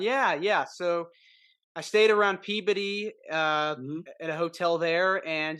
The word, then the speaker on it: Peabody: Yeah, and it's I can tell that you've actually been there because you pronounce it correctly, Peabody rather than Peabody.